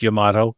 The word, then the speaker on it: Yamato: And for the record, it is pronounced Yamato.